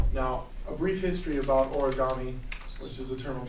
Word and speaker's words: origami: into the Americas so the Japanese word origami or as they would pronounce it origami at Le I hope they pronounce it that way um literally means Ori